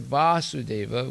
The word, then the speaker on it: Vasudeva: person Lord Vasudeva is when he says Lord Vasudeva with a long a that means Krishna is